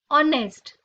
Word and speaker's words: honest: Honor, honest. Both these words begin with the phonic sound O, A vowel sound. Hence we say an honest man. It's an honor because H is silent in these words.